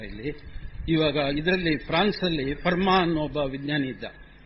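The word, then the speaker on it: Fermat: ಇವಾಗ ಇದರಲ್ಲಿ ಫ್ರಾನ್ಸ್ ಅಲ್ಲಿ ಫರ್ಮಾ ಅನ್ನೋ ಒಬ್ಬ ವಿಜ್ಞಾನಿ ಇದ್ದ ಫರ್ಮಾಟ್ ಅಂತ ಫಿಸಿಕ್ಸ್ ನವರು ಸಾಮಾನ್ಯವಾಗಿ ಉಚ್ಚಾರಣೆ ಮಾಡ್ತಾರೆ ಟಿ ಸೈಲೆಂಟ್ ಅಲ್ಲಿ ಫರ್ಮಾ ಅವನು ಗಣಿತಜ್ಞ ಹಾಗೂ ಭೌತ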